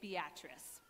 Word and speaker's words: Beatrice: in Nebraska called Beatrice it is spelled Beatrice but the locals say Beatrice and that's here nor